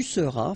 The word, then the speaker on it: seras: Je serai, tu seras, final S not pronounced, il sera, elle sera,